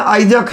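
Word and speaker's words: Isaac: लिए आइजैक लिखते हैं, बट सही मायने में आइजैक है, सर आइजैक न्यूटन। और इंग्लिश में ध्यान रख लेना कि सर आइजैक के स्पेलिंग ISSAC आइजैक होता है। अब देख सकते हो इसाक भी बोल सकते हो, इसक मत बोलना, इसक बोलोगे दिक्कत हो जाएगा।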